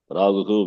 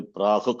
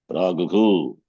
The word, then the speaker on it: प्राहुः: एतद्यो वेत्ति तं प्राहुः क्षेत्रज्ञ इति तद्विदः Praguhu visarga must be pronounced. Sharpare kar. Visargasya visargadesha bhavati eva. You should never say prahuk kshetrajna. That's wrong. Praguhu kshetrajna iti tadvidah.